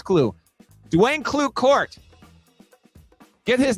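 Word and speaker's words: Klueh: It's spelled K-L-U-E-H. I don't know if it's Clue or Clue. To me, that's Clue.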